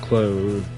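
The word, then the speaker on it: Claude: I'm playing as claw I play as claw in my first play through and or clo however you want to say his name I think people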